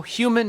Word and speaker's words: human: And I'm like, am I not supposed to be pronouncing the H in human? No, human is correct.